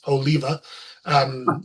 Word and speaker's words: Oliva: I always pronounced it Oliva because I didn't Yeah, know. I didn't Then I know that. watched videos of him and it's Oliva.